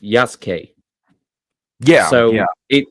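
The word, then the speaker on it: Yasuke: Well, that's that's the thing though is that the U is not silent. It's just crushed.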